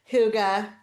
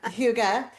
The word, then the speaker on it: hygge: period of self-reflection of kind of like I hugga listened to it three times. Uh I apologize to everybody um associated with Supernatural that I just threatened about their pronunciation. Um, Huga, um, it's the time of like strengthening those